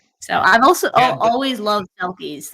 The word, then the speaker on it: selkie: So I've also always loved selkies. Like as a kid, absolutely loved selkies. So I'm probably pronouncing it wrong, but I have always loved them.